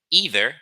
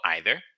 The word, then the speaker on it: either: be using the word either or either. The either is the American pronunciation, and either is the British pronunciation.